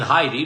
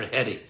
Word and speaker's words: Hetty: Okay, I was saying Heidi, but it's spelt in front of me here, Hetty.